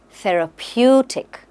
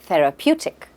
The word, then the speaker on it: therapeutic: our first word is therapeutic let's understand its pronunciation the r PE tick say it with me therapeutic correct therapeutic now it means anything that helps improve our